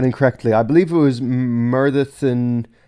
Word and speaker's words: Myrddin: So, like, apparently the two D's, according to Luke, the two D's make a TH sound. So th. So Myrddin, as opposed to Myrddin.